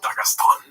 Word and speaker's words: Dagestan: No, it's actually pronounced Dagestan.